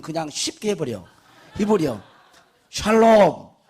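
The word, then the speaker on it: שלום: 샬롬. 예, 우리 옆에서 샬롬. 여러분 평안하십시오. 평강을 빕니다. 예, 늘 발음을 잘해야지 샬롬이 돼. 살롬 그렇게 돼. 그것도 괜찮아요.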